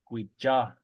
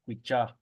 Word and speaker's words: guija: And in other places, in McDermott, it's guija. Ja. They use like a CH sound. Guija.